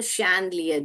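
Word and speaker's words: chandelier: okay ऐसे जोड़ के पढ़ने का है आपको शलियर झूमर को शलियर बोलते हैं तो हम श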